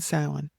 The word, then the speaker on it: Samhain: We have Imbolc, Bealtaine, Lunasa, and Samhain.